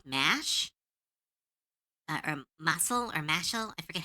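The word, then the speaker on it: Mashle: Mashel Mashel, right? That's how you pronounce it.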